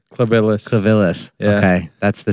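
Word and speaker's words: Clivillés: Clavillis.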